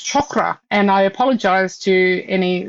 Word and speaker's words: chakra: And it's So, there are these beautiful little, uh, connections, um, you see, um, people say chakra and chakra, and it's chakra.